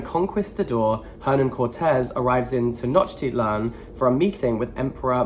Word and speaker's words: Tenochtitlan: There's a lot of words here that I don't know how to pronounce. Oh no! Tenochtitlan. Oh, that's not at all what I was saying. Tenochtitlan.